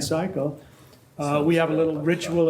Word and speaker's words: Siakel: I introduce our speaker cycle that's how you say it again cycle we have a little